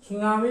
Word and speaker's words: tsunami: सुनामी में T silent होता है, जो नवयुवक हमारे देख रहे हैं और जो यहाँ भी बैठ करके लुत्फ उठा रहे हैं।